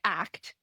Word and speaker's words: ACT: So it's actually pronounced ACT. So that you gotta always say ACT because that's what Steve Hayes says it's how we pronounce it.